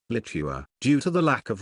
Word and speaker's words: Litua: The chronicle recorded a Latinized form of the name Lietuva, Litua, pronounced Litua.